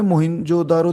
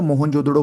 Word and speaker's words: मोहनजोदड़ो: ठीक है, दूसरे नंबर पे मोहिंजोदारो देखो, मोहिंजोदारो बोलो या मोहनजोदड़ो बोलो, कुछ भी जो आप अच्छे से प्रोनाउंस कर सको।